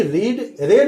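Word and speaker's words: read: Example, had ही रेड a book, है ना, रीड का चूंकि स्पेलिंग एक ही रहता है, रेड पढ़ा जाता है।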